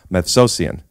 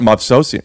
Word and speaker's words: Movsesian: Get ready for a great episode with Sona Movsesian. How do you not know this yet? We are friends. I've never mispronounced Glassman. Yeah, obviously. It's not Movsesian. Sona Movsesian.